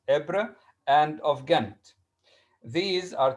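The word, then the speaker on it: Ypres: nowadays in belgium in belgium belgium city is pronounced ebre and of ghent these are two cities uh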